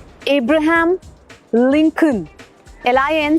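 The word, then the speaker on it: Abraham: ए बी आर एच ए एम इब्राहम अब्राहम Lincoln L आई एन सी ओ एल N would always be Lincoln.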